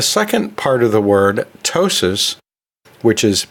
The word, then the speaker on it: ptosis: And then the second part of the word, ptosis, which is P-T-O-S-I-S, ptosis, that also means a falling.